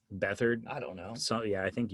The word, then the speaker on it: Beathard: Beathard, I don't even know if I said his name right. I think it's C.J. Beathard. Beathard?